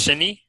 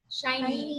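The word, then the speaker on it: SHINee: So let's say that Dia also had a page on, is it pronounced Shiny? Shiny.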